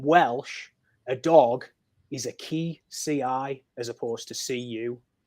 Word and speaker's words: ci: now in modern Welsh a dog is a key CI as opposed to CU but the Welsh you is pronounced like an eye so even if you